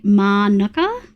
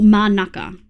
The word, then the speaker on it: Manuka: Uh, man is a suburb in Canes and it's pronounced correctly. At least they say manuka or manaka like that.